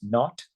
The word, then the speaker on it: naught: Pronounce that x naught.